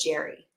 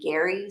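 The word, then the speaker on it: Gerry: main antagonist was Elbridge Jerry um which I understand he actually pronounced his name Gary so it's a Gary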